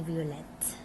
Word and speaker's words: violette: La basket est violette. We're pronouncing the T because it's doubled.